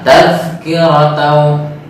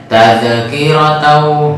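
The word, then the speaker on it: تذكرة: Tadi masih ada pantulan, yang harusnya tidak ada pantulan, tadzkiratau, tapi membacanya tadzkiratau. Nah, seperti itu. Harusnya tidak ada pantulan, tahan saja, kemudian langsung masuk ke huruf sesudahnya.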